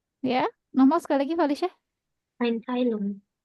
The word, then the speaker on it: Einteilung: Einteilung, Bukan Anteilung, coba bacanya gimana? Coba lihat tuh tulisannya. Bukan Anteilung. Apa Val?